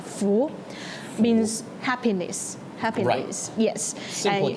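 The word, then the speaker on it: 福: It's not fu, it's dao.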